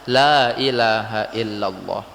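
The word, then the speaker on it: لا إله إلا الله: Maka la ilaha illallah pengucapannya dibaca panjang, la ilaha illallah.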